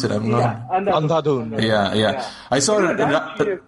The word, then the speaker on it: Andhadhun: How do you even pronounce it? Andhadhun.